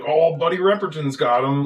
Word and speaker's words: Repperton: Buddy Repperton is it Ripperton or Repperton? Repperton. Okay, so I'm saying it right.